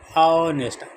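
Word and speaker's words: honest: लेकिन जब हम इसके आगे हमको लगाना है वोवेल या कॉन्सोनेंट, तो यहाँ पर ऑनेस्ट कॉन्सोनेंट है, लेकिन उच्चारण वोवेल की तरह ऑनेस्ट।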